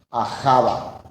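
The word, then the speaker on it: אהבה: Ahava. Ahava. ¿Qué significaba Ahava? Protección. Significaba también servir, ayudar, sacrificar. Todo esto significaba amor. Y es la primera vez en la Torá que aparece la palabra Ahava.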